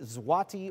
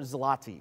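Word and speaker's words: złoty: Yuan and Poland was the zwati or zlati we would have taken either of those pronunciations so it's a 20-point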